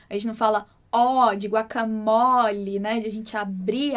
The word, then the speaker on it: guacamole: Então, igual no português, né, que a gente fala guacamole e a gente troca o E do final por I, em espanhol isso não acontece. Por isso que a pronúncia correta é guacamole. Mole. Com esse som bem fechadinho.